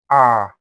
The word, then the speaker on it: ا: The first mistake is making the sound too short. Some people will say, ah, no, that's for Hamza. We'll talk about that later.